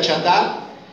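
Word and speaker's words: חַטָּאת: palabra chatar, aunque se escribe así, pero se pronuncia chatar, dice, deben de llevar un becerro como una ofrenda por su pecado y presentarlo ante el tabernáculo."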